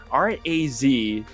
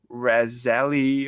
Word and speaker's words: Razaele: It's Razaele, and a lot of people mispronounce that, I guess, and apparently we are the only ones who pronounce it correctly. It's not Razali or Razal or Razal.